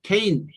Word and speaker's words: cane: 여기는 크와 느 사이에 모음이 두 개 있어요. 뭐 사이가 됐든 한 음절에서 케인 한 음절인데 그래서 뒷모음은 묵음이 됩니다. 소리가 안 나요. 그 대신 제일 끄는 소리가 나는 끄는 거죠. 그랬을 때 A는 그 알파벳 소리 A가 나는 거예요.